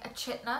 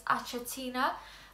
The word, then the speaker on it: Achatina: the common term but I grew up saying a chiter so apologies if I slip up throughout this video but for the sake of this video let's try and say it right so it's achatina uh Immaculata so when